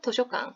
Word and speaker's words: 図書館: 도쇼강, 도서관, 도쇼강. 발음 굉장히 비슷하죠?